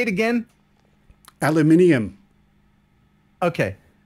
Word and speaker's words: aluminium: Aluminium. Okay. There's no second I. You're going to need a second I to have inium. There's no inium in here.